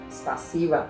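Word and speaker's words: спасибо: Veja, Zeca, spassiva é como falamos a palavra spassivo.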